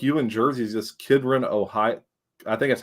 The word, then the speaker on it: Kidron: But the closest one to like you in Jersey is just Kidron, Ohio. I think that's how you pronounce it. Kidron, Ohio.